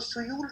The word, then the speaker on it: Suyal: ठीक है, अब इसके लिए जो आपको याद रखना है, एक तो सुयूल रिवर लिखी हुई है इसमें पहले चैप्टर में, SUYAL, सुयूल, सुयल, सुयूल, जो भी नाम बोलना चाहो, डू नॉट go with my pronunciation which is very bad.